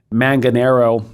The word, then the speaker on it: Manganaro: And so it's by John, I'm going to mispronounce his name, but John Manganaro. That's correct, Manganaro.